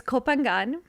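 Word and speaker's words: Koh Phangan: So it's Copenangan.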